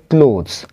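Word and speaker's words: clothes: ক্লোজ ক্লোজ মানে হচ্ছে জামাকাপড় ঠিক আছে এর উচ্চারণটা হবে ক্লোথস আরেকটা আছে ক্লথ সি এল ও টি এইচ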